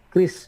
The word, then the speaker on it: QRIS: Terus nomor 6 ini agak sedikit advance ya, dalam tanda kutip mengenal transaksi cashless menggunakan tadi QRIS atau KRIS bacanya ya, tulisannya QRIS, barcoding.